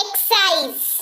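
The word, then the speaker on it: excise: फिर ये एक्साइज एक्साइज यहां पर देखिए एक्स लिखा हुआ है एस नहीं लिखा हुआ है एक्स के बाद जस्ट बाद उसके एस नहीं लिखा हुआ है लेकिन उच्चारण ए रहा है एक्साइज यानी की उत्पादक शुल्क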